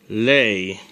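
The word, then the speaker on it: 零: There are two ways you can pronounce this number. One is... Oh wait, I almost spelled it wrong. Zero, which is basically the English pronunciation with a Japanese accent. Okay, and the other pronunciation is lei.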